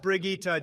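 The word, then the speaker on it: Brigitte: in a and moving on unbelievable we have Bridget next it's pronounced brigitta Jesus Christ Barack and you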